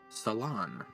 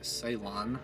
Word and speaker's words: Ceylon: But Google says Ceylon, so Ceylon, Ceylon. And I would think it would be Ceylon, but it's not what Google says, so.